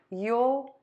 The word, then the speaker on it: you'll: you you all so I'm gonna do this pronunciation first you'll you'll you'll and you'll you'll you will give